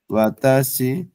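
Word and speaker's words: は: মাসেন তাহলে এটা কেমনে হয় দেখি তো যেমন ওয়াতাসি গাছে যা আর মাসেন মানে আমি মাত্র না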